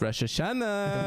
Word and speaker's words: Rosh Hashanah: why do you say it like that it's Rosh Hashanah why isn't it spelled Rosh Hashanah why is it spelled Rosh Hashanah it's spelled Rosh Hashanah Rosh Hashanah